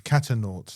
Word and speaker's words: Catanaut: It's Catanaut. Catanaut, yeah. Like astronaut, but it's cat.